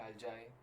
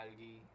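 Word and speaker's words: algae: इसको हम कहते हैं अल्जाई या एल्गी जो भी चीज जिस तरह भी आप इसको प्रोनाउंस करना चाहे।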